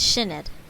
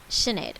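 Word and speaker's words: Sinéad: pronounce that signed pronunciation uh how do you pronounce the irish name sinead it's shinid sinead shinaid okay so this story is from sinead de valera uh who lived from 1889 to 1974.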